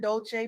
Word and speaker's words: Dolce: I'm your host Leanne Dolce, pronounced dolce like sweet softness whispered in French.